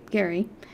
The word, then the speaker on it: Gerry: depth and sensitivity still a grieving widower Gary pronounced Gary cried real tears during the opening episode when